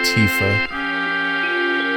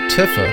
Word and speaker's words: Tifa: uh and this is Tifa ever since once I was a kid I called her tiffa until about 2 days ago found out that I would saying it wrong the whole time